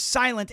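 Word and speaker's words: SLNT: Their their name is Silent.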